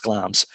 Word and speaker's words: Glamis: got to go to glams it's it's spelt glamis if people are looking for it but it's pronounced glams and i uh i